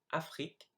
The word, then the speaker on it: Afrique: So here are the 8 words I mispronounced. So I should have said the second time traverser, dans, tout, Afrique, chameau, serait, génial, nul.